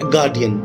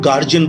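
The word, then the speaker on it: guardian: जैसे आपको बोलना है गार्डियन, तो मैं देखता हूं कि ज्यादातर लोग गार्जियन बोल के काम चला लेते हैं, विच इज रॉन्ग.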